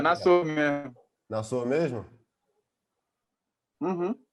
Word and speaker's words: Nassor: Pô, cara, a primeira coisa, te perguntar, como é que pronuncia direito o seu nome, cara? Nassor, né? Que tem uma galera que fica assim, Uhum. pô, eu acho muito bacana, né, na verdade, tipo, Nasso. Nassor, Não, como é é que é?